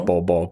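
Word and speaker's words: Bol: His name is Ball.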